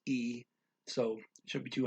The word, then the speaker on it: y: And then the main word is y, which is pronounced e.